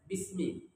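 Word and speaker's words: بسم: digabung dengan ba itu dibaca bis Bismi asalnya biismi hamzahnya dihapus karena dia Hamzah wasal Kenapa dihapus kata ulama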